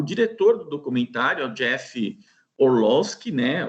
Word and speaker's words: Orlowski: diretor do documentário Jeff orlowski né ou se a gente fosse pronunciarem alemão orloski mas lá por ser americano o Jeff é o